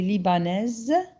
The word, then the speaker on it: libanaise: Elle est libanaise. Parce qu'il y a un S entre deux voyelles, il devient Z.